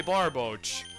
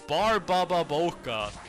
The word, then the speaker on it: Barboach: It's not Barbababoka, okay?